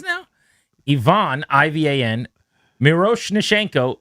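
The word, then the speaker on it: Miroshnichenko: Ivonne IV an Miro Nashenko is kind of exactly how it's said to be honest.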